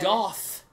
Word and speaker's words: Goth: So Goff is the street. Okay. Goth is the thing that Jairus is trying to say. Goth. For some reason he's pronouncing goth with an F.